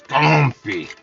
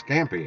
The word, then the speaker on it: scampi: instructor and culinary school it's not pronounced scampi it's comfy I'm like dude never in my life have I ever heard it called skumpy or however you pronounce it it's scampi everybody's always pronounced it scampi yeah you said was